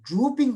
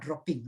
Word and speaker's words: drooping: So again, if you have the blank sheet with you, write down, it is drooping of the eyelid, not dropping, right? D-R-O-O-P-I-N-G, that is drooping.